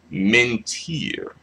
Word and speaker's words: mentir: All right, I'm thinking that is mentir. Yes, R. So it should be the X accentuation or the stress lands on the last syllable if it ends in like a consonant, except N or S.